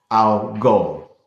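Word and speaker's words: Algol: awareness it's phonics based al gol is the pronunciation of that star so alcohol i'm already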